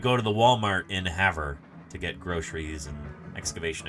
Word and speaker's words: Havre: Havre is how it's pronounced in Airthos in Montana.